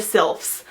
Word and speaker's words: sylph: I really enjoyed reading about the abilities of the sylphs, and I think that's how you say it. Sylph rhymes with MILF, I'm pretty sure.